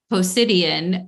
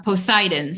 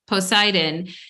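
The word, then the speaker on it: Poseidon: um mythology around Medusa Medusa was assaulted by pidan uh posidon sorry I always say his wrong name wrong Medusa was assaulted by posidon and um Athena found out about it and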